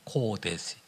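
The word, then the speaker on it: קודש: 여기에 성결이라고 하는 것은 코데스라고 하는 단 코데시 카다시 코데시 그렇게 발음하는 단어입니다 코데시 코데 좀 쉽죠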